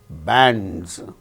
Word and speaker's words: bands: After A, we find N, D and Z, bands, because D is a voiced sound and the plural marker is pronounced as Z, bands.